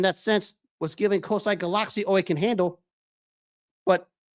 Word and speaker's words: Galaxy: And for those of you who are listening, it's pronounced Galaxy due to the Thailand dialect, not Galaxy as Americans like to say.